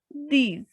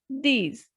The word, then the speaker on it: dix: And last is these. These. X has the pronunciation of je, so these.